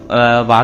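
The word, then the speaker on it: は: जगह क्यों लिख रहा हूं? तो कुछ-कुछ एक्सेप्शनंस होते हैं। ठीक है? कुछ-कुछ एक्सेप्शनंस होते हैं जहां पर जो अपना हा होता है वो अपना एज अ व रीड किया जाता है।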